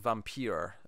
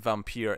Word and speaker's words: Vampyr: making a documentary and he pronounces it Vampyr, and he comes off as a pompous little shit because he's saying it that way. So I think of him whenever I say Vampyr.